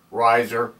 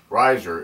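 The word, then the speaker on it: Reiser: and mineral identification followed by my name Riser space capital M period capital S period Riser is spelled r-e-i-s-e-r I encourage you to watch my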